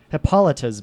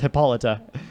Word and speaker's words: Hippolyta: lighter face it's what Hippolytus mouths who said that where this just in it's pronounced Hippolyta peloton this news Titans